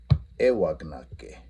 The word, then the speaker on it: éwagnaka: So, éwagnake, I put or I place. All right, éyagnake, you put or you place. Éwagnake, éyagnake. So remember, that stress doesn't change. It stays on the beginning.